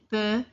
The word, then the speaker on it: peut: Je peux, tu peux, il peut, elle peut. The X and the T are silent here.